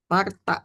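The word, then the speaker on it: ܡܪܬܐ: Mim dikasih harkat a ma. Kemudian res enggak dikasih harkat maka dibaca swa di tengah mar gitu ya. Oh. Kemudian ketemu dia huruf tau dengan haza e zekafa a panjang marta.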